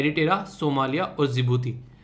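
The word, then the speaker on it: Djibouti: है लुटेरा सोमालिया और जिबूती जिबूती में यहां पर डी साइलेंट है इसलिए इसको बोलते बोलते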